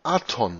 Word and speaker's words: Adon: Das hebräische Adon, der Herr, wird mit Punkten Aton ausgesprochen.